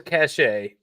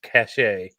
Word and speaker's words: cache: question when Brian end so she says cach a and then she got a bunch of emails apparently over the weekend or whatever that said uh no you were saying it right it is pronounced cache uh and so now